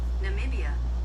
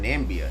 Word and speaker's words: Namibia: sound kind of hot oh I was saying nambia that sound dry what n Namibia Namibia I might name my child that you think about that you that not RO with that Namibia Namibia Namibia but um